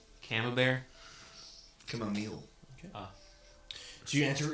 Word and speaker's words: Camembert: Camembert.